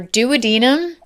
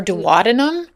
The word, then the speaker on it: duodenum: Oh my god, this is like such a thing in medicine because it's There's two ways to say it and it's either duodenum or duwadnum.